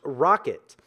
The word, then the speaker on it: rkt: we have our KT which is pronounced rocket now Rocket is officially